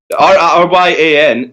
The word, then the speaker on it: Rion: But no, Ryan in Gaelic means little king or prince. So that is the correct way to say it.